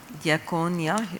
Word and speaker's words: Diakonia: Maybe I can answer the Diakonia, that's how you pronounce it.